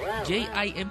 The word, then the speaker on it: Jim: J-I-M po, tatato na nga lang po eh. Hindi pa ma-spell ng tama. Anyway, ang spelling po ng pangalan natin, J-I-M. Jim ang tamang pronunciation.